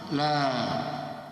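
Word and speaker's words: لا: Maka kalau panjang dibaca panjang. Jadi la ilaha, tidak ada Tuhan yang disembah illallah, kecuali Allah. Bacanya harus panjang.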